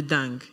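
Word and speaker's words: dengue: oui la maladie de dingue d e n g u e ok h HM causé par un moustique ça se lit Dang mais ça ça s'écrit Dang mais ça se lit dingue Ding oui ok dingue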